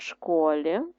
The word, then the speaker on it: школі: записуємо так само стовпчиком діти звісно вчаться в школі на о наголос а комбайн працює в